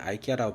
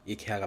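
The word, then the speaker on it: IKEA: 갔다 왔습니다 왜 미국에서는 아이키아라고 부르는데 옛날에 한국에서 살다가 놀러온 친구가 이케아라고 발음을 해서 한참 제가 놀렸던 기억이 있는데 알고보니이 회사가 스웨덴 회사고 그 나라 발음으로 이케아가 맞더라고요 그래서 깜짝 놀라고 역시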